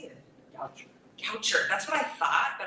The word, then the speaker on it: Goucher: Goucher. That's what I thought, but I was like, poet brain, yeah, I almost said Boucher, and I'm really glad that, okay.